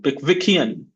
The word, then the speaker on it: Pickwickian: So four syllables: pick, wick, e, un. And if you have this symbol before a syllable, that means that is the one with the main stress. So Pickwickian, Pickwickian.